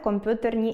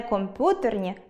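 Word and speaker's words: комп'ютерні: четверте - компютерні - у словах з апострофом має бути роздільна вимова, тому не компютерні, а комп’ютерні.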